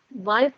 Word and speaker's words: weit: Weit jauh. Weit. EI dibacanya AI.